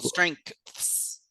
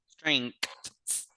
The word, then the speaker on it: strengths: Like for example, strengths. Strengths. Ah, strengths. I think the G turns into a K there.